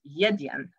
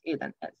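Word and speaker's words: еден: of course um it they've actually added a y so it's yiddiyan nobody in macedonia pronounces ethan like not even in a in any dialect right so that's just plain wrong or chiatiri or piet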